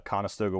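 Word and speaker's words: Conestoga: lot of differences between what I thought a conastoga wagon is versus what mostly was used on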